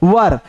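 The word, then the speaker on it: were: अब आता है यू वर, इसको वेयर नहीं पढ़ेंगे, बहुत सारा लोग इसको प्रोनाउंसिएशन में वर पढ़ते हैं, वेयर पढ़ते हैं।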